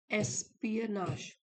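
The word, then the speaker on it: espionage: dealt with with एस्पियनाश इसको pronounce करेंगे एस्पियनाश तो एस्पियनाश इसका मतलब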